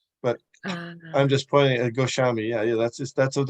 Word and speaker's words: Goswami: make sense so probably even though that the word goswami has SW but it still pronounces goshami that's and if if